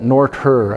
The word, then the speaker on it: Noether: And Emmy Noether, some people call it Noether. I guess that must be a German pronunciation.